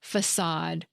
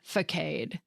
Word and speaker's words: façade: The cedilla adds a curvy tail beneath the letter C to create a soft S sound instead of a hard K sound.